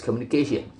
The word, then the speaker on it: communication: The base word communicate has stress on an earlier syllable, but the addition of a suffix ation causes the primary stress to shift the syllable immediately before the suffix, producing communication.